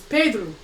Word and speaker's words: Pedro: But the way you say pedro in Portuguese is pedru.